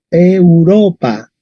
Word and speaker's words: Europa: es oe o diptongo Entonces esto se pronunciaría e urópa Europa Okay Europa Okay miramos la penúltima sílaba Esa es la penúltima sílaba Ah Es una vocal larga boca boca larga Entonces el acento estaría en Europa Europa y hay que pronunciar una vocal larga tenemos que decir Europa a ver una más